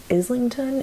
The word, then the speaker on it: Islington: It is by James Islington is how I would pronounce his name.